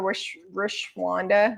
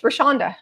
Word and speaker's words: Rashonda: Remember when I used to call her Rashwanda because I couldn't say her name?